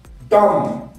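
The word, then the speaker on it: dumb: ইউ বি কি হয় ডাউট ডাউট ডাউট be silent সকলে একসাথে ডাউট ডাউট ডাউট ডি ইউ এম বি ডাম ডাম কি বলবো দাড়াও এক সেকেন্ড ডকার ম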